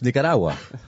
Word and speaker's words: Nicaragua: That's because I say it in Spanish. Nicaragua. Yeah, okay. It's no, gotten better. Right, because you don't pronounce the Strong G because it's the Spanish pronunciation.